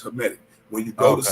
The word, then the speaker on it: Hamitic: Hamitic or Hamitic? How do you say that? That's Hamitic.